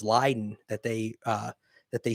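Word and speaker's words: Leiden: and i think that the pronunciation of the town is lyden that they uh that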